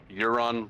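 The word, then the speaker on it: Yaron: a really weird thing his name's spelled y-a-r-o-n but the only way I can remember to say it right is to think of the character from Game of Thrones uh the Greyjoy pretty uh pretty cool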